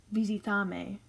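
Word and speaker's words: visítame: but this looks like visitame is how you would say it in spanish so that's why i have this little accent mark here over the verb because for verbs with two plus syllables so visita has two plus syllables in these cases you're going to put an accent on the second last syllable in each of those verbs so it's going to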